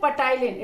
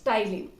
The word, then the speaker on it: ptyalin: Here P is silent. So कुछ बच्चे बोलते हैं ptyalin. It's not ptyalin, it's ptyalin.